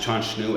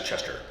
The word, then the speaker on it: Chanchnu: It is a mispronunciation of the traditional Dena'ina name Chanchnu, or Grassy Creek, and the railroad workers back in 1915 simply pronounced Chanchnu as Chester.